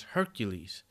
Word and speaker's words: Hercules: call it Heracles so when I was growing up in America I'm in China now we used to pronounce it as Hercules but then when I